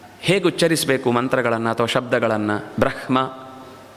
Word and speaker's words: ಬ್ರಹ್ಮ: ಉಚ್ಚರಿಸಬೇಕು ಮಂತ್ರಗಳನ್ನ ಅಥವಾ ಶಬ್ದಗಳನ್ನ ಬ್ರಹ್ಮ ಹಕಾರೋತ್ತರ ಮಕಾರ ಅಂತ ಇರುವುದು ನಿಜವಾಗಿ ನಾವು